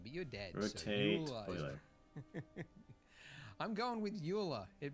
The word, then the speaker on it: Euler: Is that how you pronounce that word? Euler? No, it's Euler.